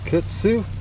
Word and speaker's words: Koetsu: That's how I'm going to pronounce it, Koetsu. Not quite sure.